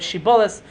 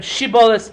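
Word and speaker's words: Shibboleth: frame or not by seeing how you could pronounce the word shibolis. If you said sheibis that you're not from a frame.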